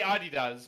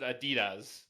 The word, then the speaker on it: Adidas: yeah i i i i say adi does but i know like some people pronounce it adidas at that point if